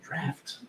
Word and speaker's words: draught: Is that how you say it? Drought? Draught, yeah, or draught. I thought that was draft. Draught. Yeah. Huh. Like it's draught Oh, really? from the draft.